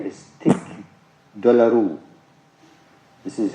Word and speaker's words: tic douloureux: The very painful condition is called trigeminal neuralgia, and its Latin name is tic douloureux. This is how it is pronounced.